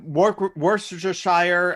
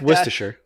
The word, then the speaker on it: Worcestershire: that's like funny mehmet you said like a work worcestershire shire no it's worcestershire worcestershire yes that's exactly uh yeah